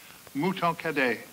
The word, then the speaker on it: Mouton Cadet: Mouton Cadet. It rhymes with hooray.